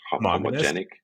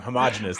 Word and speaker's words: homogeneous: a very homog how how you say this English homogenic yeah there you goog no homogenous I I even said it wrong homogeneous there we go homogen yeah see